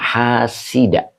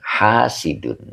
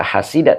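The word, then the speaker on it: حاسدًا: ini bacanya hasida ya Kenapa dibaca hasida tidak hasidu ini menjadi maf'ul Bih jadi yaktulu fi'il mudhor fa'ilnya Hua alhida maf'ul Bih yang dinasabkan dengan fathah ya jadi dengki itu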